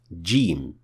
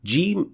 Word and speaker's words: ج: The letter jim is a plosive sound, which means that there is a little gush of air released when pronouncing it. If that trait is ignored, which is a very common mistake even among Arabs, then the letter will not be properly pronounced.